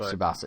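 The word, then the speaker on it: Tsubasa: it suasa subasa um subasa like tsunami right subasa yeah without the Nami right but yeah they're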